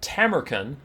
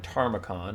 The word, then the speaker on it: Tamurkhan: over there we have tamaren who I was told I was saying it wrong when I was saying tacon and that while that's